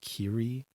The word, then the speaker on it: Kiri: was Kitty but it's the way they're pronouncing it it sounds like like cat kitty yeah that is Kiri kitty it's just the they rolled off the rolling of the hearts very much sounds like kitty yeah in the movie